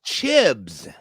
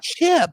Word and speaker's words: Chibs: hair black hair oh chibs oh chibs my bad I said his name wrong I was like chip the Irish guy I'm thinking about the